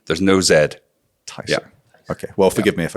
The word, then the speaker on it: Tiso: to hear from yourself how you pronounce your own business's name just to clear that up tyo tyo not tiso a lost there's no e there's no Zed tyo okay well forgive me